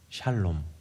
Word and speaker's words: 샬롬: 하리라 그 열매가 뭐예요 그게 평강이 평강 살렘 샬롬 예 발음 잘하셔야 됩니다 샬롬네 예루살렘 하나님의 평화에 임한